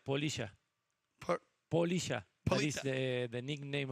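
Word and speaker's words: Poliya: So Polita with an A. No, Polisha. Polisha. Oh, Polisha. Spell it for me so easy.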